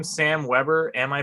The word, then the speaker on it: Webber: Is your name Sam Weber? Am I pronouncing it correctly?